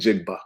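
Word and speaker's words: Njigba: say it's Middle Jackson Smith and jiga and jiga yeah Smith and jiga there you go thank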